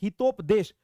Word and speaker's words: हितोपदेश: अब आपको कोई पूछेगा कि रिसाला गिलक्रिस्ट किसने लिखा, तो चूंकि देखिए हितोपदेश, अच्छा आदित्य राज हितोपदेश, हाँ ठीक है हितोपदेश, ठीक है ये प्रोनाउंसिएशन ध्यान दीजिएगा साथियों।